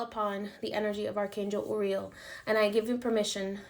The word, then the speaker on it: Uriel: to speak today or just say uriel every time i say his name he corrects me because he's like it's uriel um rafael and michael